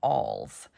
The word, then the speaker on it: awl: I wanted to share what I know about alls now it's a WL and it's pronounced all and uh some people call it